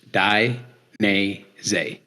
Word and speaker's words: Dainese: the name of the company is the proper pronounce of the name of the company is D so D ye neeh zeh die n z um and like I told you before the